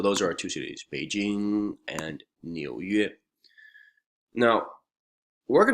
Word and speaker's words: Beijing: be Jing North Capital Jing is a little bit of a tricky word to pronounce because it has that nasal nasal sound J J is New